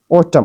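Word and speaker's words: autumn: ऑटम ऑटम इसमें यह समझो एन जो है वो साइलेंट है।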